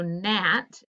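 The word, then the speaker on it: gnat: to give the answers so nat is gn knuckle those are your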